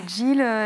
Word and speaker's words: Jeel: Alors et Jill, J-E-E-L. Comme Neil, qu'on le recevra juste après, mais avec un J.